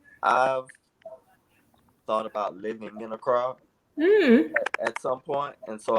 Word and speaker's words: Accra: that's the airport in Accra, and Okay. That's how you pronounce it, Accra.